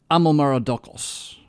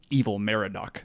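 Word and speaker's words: Amel-Marduk: son i'm Almera duxelles i'm almera duxelles that's better than evil mara doc that just sounds like a child's toy or something weird I mean we're totally thrown off by just the word evil and it's not the word evil at all it's just the sounds coming across the language it really is about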